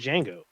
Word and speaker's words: Django: his son is named django with a d with the d is silent oh